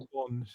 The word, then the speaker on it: scone: Rhymes with cone. cone or gone. Scone. Is that the right way to say it, Marina?